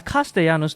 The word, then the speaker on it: Castellanos: It's Castellanos, Nick. Can we get that straight? Sorry, Yeah, sorry. I don't know what you were saying, bro. You're adding a whole lot of Castellanos. L syllables in there. Too many L's.